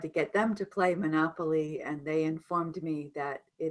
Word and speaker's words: Monopoly: Monopoly, stress Monopoly. is different on the pronunciation here.